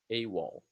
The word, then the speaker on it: AWOL: Remember that this one is pronounced as a word. AWOL.